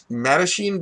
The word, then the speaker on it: Mattachine: I actually looked at it's called a it's pronounced Mattachine but they it's actually in Spanish it's my